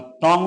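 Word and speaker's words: two: कब साइलेंट होता है तो डब्लू साइलेंट होता है यदि डब्लू के बाद में आपका ई आए या ओ आए जैसे कि आंसर मीस उत्तर सर्ड मीस होती है तलवार और टू मीस दो तो यदि डब्लू के बाद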